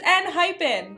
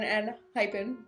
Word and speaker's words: Enhypen: We thought there was an extra H. Yeah, we were calling it hyphen. It's not hyphen, it's hypen. Like, not the little dash, but like, you know.